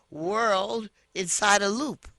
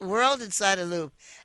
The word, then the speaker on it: Whorl Inside a Loop: He's the actor who I saw in World Inside a Loop. Is that how you pronounce it? That's correct. WHORL Inside A Loop. World Inside a Loop.